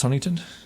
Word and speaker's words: Huntington: PE yeah well that's Huntington isn't that just Huntington H hun okay yeah people pronounce the T and it drives me crazy Huntington hun Huntington people